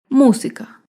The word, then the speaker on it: música: antepenúltima sílaba por ejemplo la palabra música música se acentúa en la antepenúltima sílaba música todas las palabras esdrújulas